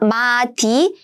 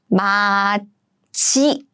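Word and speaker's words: 맏이: So it's not 마디, but it should be 마지, 지.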